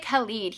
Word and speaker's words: Khaled: to be honest but i think it's kalid dj khaled the king of snapchat snapchat i call it snappy chat so often that i can't even pronounce snapchat anymore um thank you okay you gave the pronunciation you rock DJ kalid he's the he is